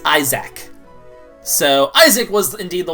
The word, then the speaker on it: Isaac: And in case you're wondering, the word that rhymes with hack is Isaac.